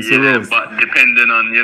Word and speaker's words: Cerose: Cerose, my correction, Cerose.